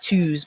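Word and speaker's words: Lao Tzu: Um I say twos but it's spelled t zu.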